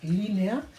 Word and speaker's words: línea: tilde, que es esdrújula, línea de tiempo. Fijaos, línea, estas dos vocales son fuertes, con lo cual van en sílabas distintas, línea, 3 sílabas, el acento está en la primera, esdrújula con tilde.